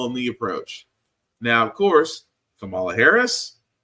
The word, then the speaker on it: Kamala Harris: approach now of course Kamala Harris that is how you pronounce her name which is surprising to